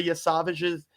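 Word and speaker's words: Yesavage: You said it right the first time. Trey Yavage. Y Savage. It's just Yavage, man. Yeah, it's kind of like Yeah, boy.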